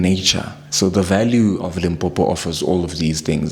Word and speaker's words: Limpopo: And please pronounce it correctly. Limpopo.